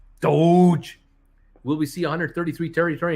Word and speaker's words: Doge: everybody uh fantastic dogecoin uh bruce is called pronounced doge doge will we see 133 territory in gamestop i don't know we're 191.